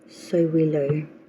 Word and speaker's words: Sowilo: Our next ruin, the card for October, is pronounced Sowilo, and it means sun or energy.